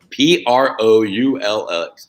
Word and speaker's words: Proulx: P-R-O-U-L-X.